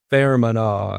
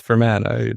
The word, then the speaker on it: Fermanagh: And I told somebody else, "Oh, my family's from Fermanagh." And he was like, "It's Fermanagh. You don't know how to pronounce these things."